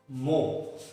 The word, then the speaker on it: mho: Mho. The pronunciation is mho.